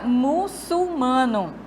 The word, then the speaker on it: muçulmano: no car bicarbonato OK a palavra muçulmano a sílaba tônica é aqui ó o mano e não muçulmano Ok temos mais um